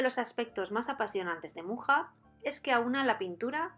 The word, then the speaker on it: Mucha: tenemos que hablar de alfons mucha o como estaría mejor pronunciado alfons moja fue el máximo exponente